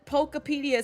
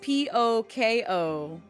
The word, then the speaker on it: Pokopia: Because it's P-O-K-O-P-I-A, Pokopia. So like, Utopia, but with poke or poke in front of it.